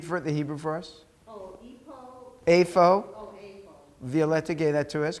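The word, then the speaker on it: אֵיפֹה: this word a phone the pay without the dots like ph like in phone afo what does the word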